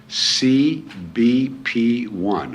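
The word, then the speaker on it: CBP One: First, if they're seeking asylum, they can use an app on their cell phone called CBP1, O-N-E, CBP1, O-N-E. That's to spell it out, not the number one.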